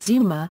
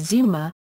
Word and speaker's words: 妻: The 妻 component means 'wife' and is pronounced tsuma (つま) when written in isolation—or frequently as zuma (ずま) when it features after another syllable.